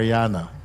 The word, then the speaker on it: Marijana: ah he says here it is pronounced like Marana Mar Mariana okay Mariana is a lovely